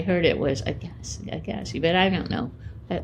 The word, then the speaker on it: Agassi: an Iranian American I I do know the pronunciation because lake agasi is a uh a lake in my native Canada I mean are you sure that's the way he pronounces that he's not Canadian no but that's the way it should be pronounced oh okay well I